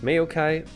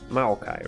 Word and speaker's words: Maokai: i'm not gonna pick mayukai uh maokai right that's how you say his name um i'm gonna pick